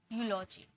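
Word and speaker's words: eulogy: rule बता दिया कि कहीं आप कंफ्यूज ना हो इसे इ में प्रोनाउंस ना कर दो ये यू में प्रोनाउंस होता है यूरोप यूलॉजी ठीक है आगे देखिए आगे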